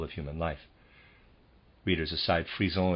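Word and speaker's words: frisson: human life readers aside freezone is f-r-i-s-s-o-n sorry if i'm pronouncing that wrong i believe that's how you pronounce it and to read us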